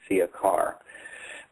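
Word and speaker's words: Ciakar: It's spelled CIA-KAR, Siakar.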